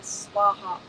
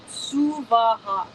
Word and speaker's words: Suvaha: The most common is Om Bhur Bhuva Swaha. Yeah, don't do that. For our fire homa today, Om Bhur Bhuva Suvaha.